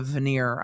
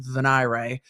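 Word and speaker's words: venire: ended up on the veneer I've never heard it pronounced vanir the veneer meaning that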